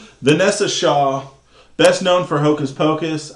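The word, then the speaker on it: Vinessa Shaw: Uh anyways, it's Vanessa, but it's like spelled B I N. Vanessa Shaw, best known for Hocus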